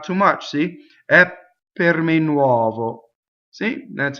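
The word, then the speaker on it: nuovo: Here's a good example of the u-o in influencing the O to make it open. Nuɔvo. Notice that the final O is on the unstressed position, so it's closed because we know all unstressed vowels are closed.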